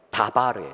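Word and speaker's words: דבר: 네, 광야는 히브리어로 미드바르인데 말씀이 히브리어로 뭐냐? 다바르예요. 다바르. 발음이 비슷하죠?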